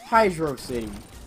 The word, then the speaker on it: Hydrocity: that is there well yes there is it's pronounced hydro city and hydro C yeah okay it's pronounced hydro